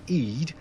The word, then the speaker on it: id: and small d, and according to one person it is pronounced Eid, and that is supposedly the unconscious part of the mind related to wildness, gratification and irrational behaviour.